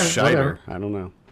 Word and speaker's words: Scheider: There's no N? Yeah. I always thought it was Schneider. Maybe it's Scheider. I don't know. Scheider.